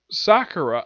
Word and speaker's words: Sakura: that yep the episode surprisingly starts off with Sakura I'm gonna pronounce her like that because that's the appropriate